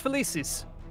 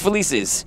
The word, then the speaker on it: Felicis: Felix Felicis. Felix Felicis.